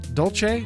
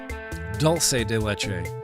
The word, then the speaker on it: dulce de leche: Nick, it's dulce de leche, not dulce, not dolce. Dulce. Dulce? Isn't that what I said? Dulce de leche? Dolce?